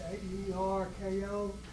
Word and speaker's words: AERCO: And I'm looking at the training through AERCO, that's AERKO Yes, sir. International, am I pronouncing that right?